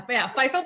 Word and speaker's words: FIFO: Yeah, FIFO the Bear. Yeah, okay. Call FIFO because of the FIFA soccer or World Cup, But so FIFO the Bear.